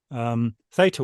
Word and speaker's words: theta: Those states you are halfway in your brain into theta waves, or theta waves, depending whether you take the British or the American pronunciation, rather than beta, beta, or alpha.